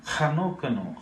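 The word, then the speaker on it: Enoch: ஹனோக்கனு. ஹனோக் இங்கிலீஷில் அது ஈனாக்குன்னு போட்டிருக்கு. ஆனால் தமிழில் ஏனோக்குன்னு இருக்குது. ரெண்டுமே தப்பு. இது எப்படி உச்சரிக்கணும்? கன்னடா பாஷையில் சொல்லிருக்கிறது போல ஹனோக்கனு.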